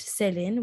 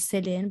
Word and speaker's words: Selin: Yeah, it's spelled incorrectly for the American people, but it's actually pronounced Selin, which is a Turkish name. And I mean, I grew up with Selin, and I mean, I would rather, have my name be pronounced the correct way, which is Selin, but not every person